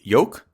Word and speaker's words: yolk: wait you don't pron you're not supposed to pronounce the the L wait then how do you say it y y yoke yuck bro I've been